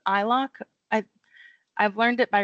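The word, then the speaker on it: iloc: So the statement we're doing in here is called eyelock. I I've learned it by reading. So if there's another way to pronounce it, I'm not entirely sure. But I think of it like I locate.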